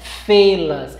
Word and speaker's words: fê-las: Sim, o termo é fê-las. Pode parecer estranha a pronúncia, mas é o correto, tá?